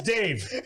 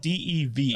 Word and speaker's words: Dev: but it's spelled D-E-V. I know, So Dave. like we were originally like Dev. It's not. And then it's like, no, it's Dave.